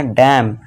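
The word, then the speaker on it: damn: यदि किसी वर्ड के अंत में एम एन हो तो वहाँ पे क्या होगा, एन साइलेंट होगा।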